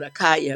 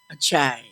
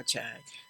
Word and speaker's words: Akyaa: And everybody pronounces it because they want to call it Akaya because it's spelled Akyaa. And in Chui, Akyaa is pronounced Achai.